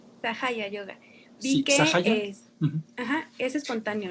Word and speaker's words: Sahaja Yoga: Y en cuanto al significado de la palabra, ¿cómo se pronuncia bien? Sahaya Yoga. Sahaya Yoga.